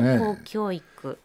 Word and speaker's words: 公教育: 崩壊する日本の高教育という 5 本を紹介するんですがね高教育公の教育と書いて高教育ですねだけど